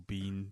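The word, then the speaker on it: Biehn: readd it now but Michael Ben or Michael Bean depending on how you want to pronounce it was also sort of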